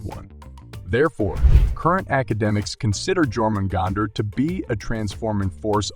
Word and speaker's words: Jörmungandr: He is one of the oldest creatures in Norse mythology, and his name is pronounced Jörmungandr, also given as Jormungandr and meaning huge monster or great beast.